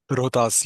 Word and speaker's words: Rohtas: So, there was a moment during your visit to Rohtas Fort. Am I pronouncing the name right? Rohtas, yeah.